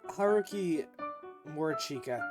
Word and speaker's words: Haruki Morichika: Haruki Morichika.